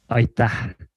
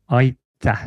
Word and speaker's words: Aitäh: Aitäh. Oof, I'm going to pretend I didn't hear that. I have no way. Come again? Aitäh. So it's A-I-T-A-H. Aitäh. Aitäh.